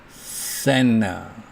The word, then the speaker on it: center: 어쩔 때 생략되느냐면 N 뒤에 T가 올 때 center, center 이렇게 발음하지 않고 center 이렇게 발음하는 경우입니다.